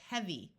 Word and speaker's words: heavy: S so dirtier dirtiest EA most of the times has e like in clean but sometimes it has a short e sound and it does in this word so this word is heavy once again the Y